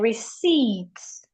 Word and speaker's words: receipt: The P is silent. Some we have psychology among other words. So all of these words when we see them we should not pronounce the sound of the P.